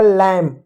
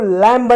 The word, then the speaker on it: lamb: अब देखो LAMB है, LAMB, एम के बाद बी है तो बी साइलेंट होगा। एल को ल पढ़ेंगे, ए को ए की मात्रा पढ़ेंगे, एम को म पढ़ेंगे, होगा लैम। इसको लैम्ब नहीं पढ़ेंगे, लैम पढ़ेंगे, लैम।